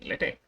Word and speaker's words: LaTeX: But if you are using LaTeX or latex, depending on how you pronounce it, the formatting is automatically done for you.